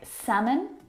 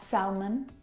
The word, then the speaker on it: salmon: silent letter L in them words like salmon not salmon half not half would talk walk all of these words have a silent l in them which makes them a